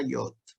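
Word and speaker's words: יוד: Esta es la Yod, ¿no? Es la más chiquitita. Y se translitera como una Y. ¿Ah? Se pronuncia como cuando nosotros decimos yerba, por ejemplo.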